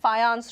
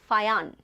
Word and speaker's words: Fajans: J is not pronounced as J, it's ya, ya, Fayan, okay.